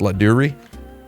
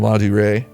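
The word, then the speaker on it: Ladurée: I used this little pastry box from, I think it's pronounced La Durée. From La Durée, a pastry shop, a French dessert shop, cafe here in New York City.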